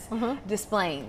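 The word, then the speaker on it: Des Plaines: Displaying.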